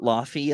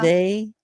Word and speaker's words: Laufey: where you are, and her name is spelled Laufey, and we over here say it Laufey a lot. She goes, "You can say it that way," Oh but it's like my God. Yeah. Leve.